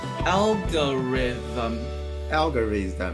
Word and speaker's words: algorithm: 那正确念法呢是 algorithm，舌头要那个 them，对，所以